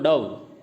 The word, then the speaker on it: dove: जैसे मूड और हुड, अब देखने में तो सेम लग रहे हैं मूड और हुड, स्पेलिंग दोनों की एक MOOD HOOD, लेकिन फ़र्क है ना, मूड में बड़ा U है और हुड में छोटा U है, तो ये मैच कम हो रही है। मूव और डव, ये तो मूव है, स्पेलिंग वही है MOVE और DOVE है, लेकिन उच्चारण इनका अलग है।